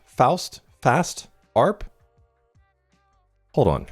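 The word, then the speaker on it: Faust Arp: Fost arp. Foust. Fast arp. Hold on. How to pronounce fast arp. Pronounce fast rhymes with joust or mouse arp like harp short for arpeggio.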